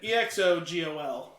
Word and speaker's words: Exegol: Yeah, EXOGOL. G. I was hearing a C in there the whole time. Oh, I mean, it's G. That's a little hard.